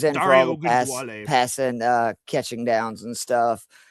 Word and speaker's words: Ogunbowale: like early late split with I can't even pronounce the dude's name. What is it? Ugabawal or however you say it. The backup he was at. Ogunbowale. Yeah, he was in for all Dario the Ogunbowale.